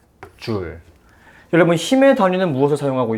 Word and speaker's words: 줄: 두 번째로, 이 일이라고 하는 것을 우리가 측정하여 단위를 사용할 것이기 때문에 단위적인 표현을 한번 해보자면, 일의 단위는 J라고 쓰고 읽을 때는 줄이라고 읽습니다. 줄.